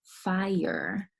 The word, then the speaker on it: fire: first vowel I it's the vowel consonant e fire so the I sang I because of the e here this is an example of a vowel consonant e at the beginning of a two syllable word the eyes saying I I'll give it a macron there the e is saying nothing so fire Bell consignee